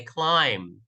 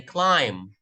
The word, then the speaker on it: climb: proper pronunciation we say climb repeat after me say climb climbing mountain climbing yes that's a silent B we say Wednesday Wednesday